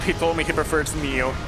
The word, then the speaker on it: Nioh: I'm pretty sure the Japanese word, like pronunciation, is actually Neo, the same in Spanish. It's Nioh.